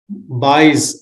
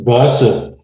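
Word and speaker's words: Buyse: Buys. How do you say your surname? Buys, B-U-Y-S-E, isn't it? It's Base. Bosse. Base. Buys. Yes, it's in Dutch. You don't pronounce it in English or it's Okay, no worries.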